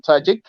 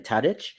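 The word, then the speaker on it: Tadić: So that's kudos, and I'll share my kudos also to Dusan Tadic.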